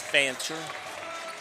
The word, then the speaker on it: Fancher: F-A-N-C-H-R, so I'm not mispronouncing something there. It is Fancher.